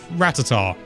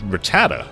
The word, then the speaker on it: Rattata: with a level five ratatar you know someone's going to get annoyed with that pronunciation in the comments there's so many i say ratata but i've heard rattata oh that's not the